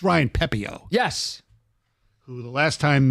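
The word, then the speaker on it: Pepiot: By the way, I do want to mention the the pitcher that I forgot how to pronounce it. It's Ryan Pepio.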